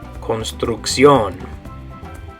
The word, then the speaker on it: construcción: Very similar, but the way you're going to pronounce it is construcción.